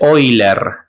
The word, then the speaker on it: Euler: Otro número muy famoso, este lo voy a escribir en dorado, es el número e o número de Oiler, en honor al matemático Oiler, que se escribe así, Euler.